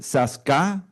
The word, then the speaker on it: Saskatchewan: Vocês esquecem a T como uma G e é Saskatchewan.